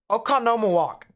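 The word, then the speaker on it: Oconomowoc: it looks weird um oka no more walk okanoma walk i think i got it i think maybe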